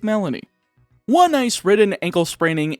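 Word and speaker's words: Melony: ice princess herself melanie you could probably pronounce that maloney based on the way it's spelled but that sounds too much like baloney so i'm gonna stick with melanie one nice ridden ankle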